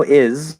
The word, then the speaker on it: is: the way it is it's spelled with an s but it's a z sound okay so it is